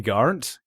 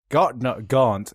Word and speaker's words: Garnt: One syllable, Female. not two. Hello everyone. Yes, it's me, Gigguk. I mean Garnt. Gaunt.